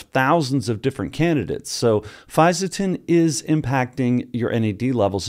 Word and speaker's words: Fisetin: I'm going to call it Fisetin. There are a couple other pronunciations, but I'll put the text up there of the name so we're all clear.